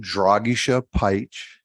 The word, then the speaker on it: Dragisha Peich: Hi, I'm Dragisha Peich. That's how you pronounce it, but Dragi's fine.